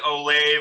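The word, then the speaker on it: Olave: google pronunciation name yeah they pronounce it oh lave on google so for right now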